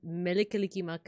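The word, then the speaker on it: Mele Kalikimaka: I learned from a video that like Melekalikimaka is how to say Merry Christmas, cause it's like instead of an R, you replace it with an L.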